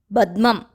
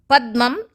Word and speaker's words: Padmam: Some people pronounce this as Badmam. It is Pa. Sahasrare. Sahasra is 1000 petals. Padmam is lotus.